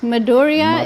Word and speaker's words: Madhurya: Madhurya is the full pronunciation, but for sannyas name, Goswami Maharaj said there should be only 2 syllables pronounced. So you had it right, just we don't pronounce the last syllable.